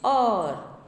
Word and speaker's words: hour: Examples: I played for an hour. H is silent.